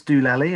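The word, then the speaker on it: Deolali: It's spelled Doolally, but it's Doolally. And it's the same as Doolally, going crazy, going Doolally, because this is where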